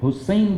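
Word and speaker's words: حصين: اور حسین بن تمیم، لیکن سواد کے ساتھ، یہ سین نہیں ہے۔ میں نے پہلے بھی گزارش کی تھی کہ اس کا تلفظ میں جان بوجھ کر ہے کے اوپر زبر کے ساتھ کر رہا ہوں، کہ یہ وہ شخص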